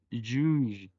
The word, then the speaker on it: juge: La J se pronuncia como una SH, como sh, pero un poquito más sonoro. La U, recordemos que se pronuncia como como si tuviéramos la boca en forma de U, pero diciendo I. Y la G con E, recordemos que tiene el sonido débil, por lo tanto se